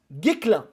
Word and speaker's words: Guesclin: ôter ses sa annonce on prononce guiclan merci randall en tout